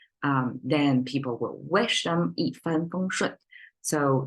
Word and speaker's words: 一帆风顺: 一帆风顺. So you have two dropping sound and two flat one in the middle, right?